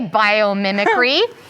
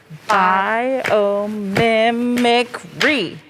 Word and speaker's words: biomimicry: yeah here we go biomimicry could you one more time yes please bio memory free how many was that five mi five five syllables one two three four five whoa how that means